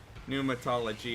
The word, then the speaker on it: pneumatology: Pneumatology. It's a silent P.